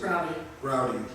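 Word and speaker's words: Braude: That's at the Marvin Broad Civic Center in Van Nuys. How do you pronounce it? Browdy.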